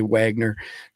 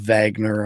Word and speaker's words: Wagner: for Wagner group and it's got a w so I can't help it I got to say Wagner I know it's pronounced Vagner I guess in Russian uh crossed over US